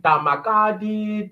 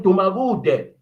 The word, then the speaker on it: Dumagude: Because whether you call him, come on, many people mispronounce my surname. Damakadi, Damakude, Damkud. At least I know they are calling Dumagude. Yes, they should know and learn how to pronounce Dumagude, but I know they're calling me.